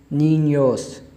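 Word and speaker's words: niños: एन और आई नी, और आगे जो दूसरा एन है उस पर एक टिल्ड सा बना हुआ है। जब ये किसी हर्फ के ऊपर आ जाता है ये जो टिल्ड है ये उर्दू के अंदर ये की आवाज़ देता है और इंग्लिश के अंदर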